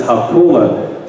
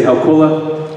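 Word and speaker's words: Hau kola: And the right way to pronounce that is Haukula. So it's like saying How and Coca-Cola minus the Coke. Can you guys say Haukula? Haukula.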